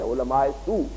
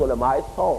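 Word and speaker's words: علماءِ سوء: ہم کہتے ہیں عام، ہماری غلط عام جو تلفظ ہے علماء سو، لیکن یہ کہ یہ صحیح تلفظ علماء سو ہے.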